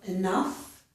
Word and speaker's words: enough: So, I wanted to show you that the ending of enough does sound like the ending of stuff, okay?